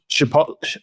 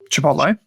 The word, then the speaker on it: Chipotle: So Chipotle, I'm saying it completely wrong. Chipotle, I think it is. Yes. You don't pronounce it t.